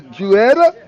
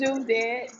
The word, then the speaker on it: Judette: Hey, sister, who, Juetta? Did I say that right? That's fine. No, how you say it? I don't want to say your name wrong. It's Judette. It's Judette.